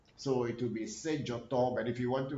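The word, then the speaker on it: Dzoto: It's not Sejoto. Not Sejoto. Sejo. Now, when we want to write it in every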